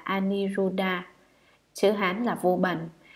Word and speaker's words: Aniruddha: Ngài An Nậu Lâu Đà, Ấn Độ đọc là Aniruddha, chữ Hán là Vô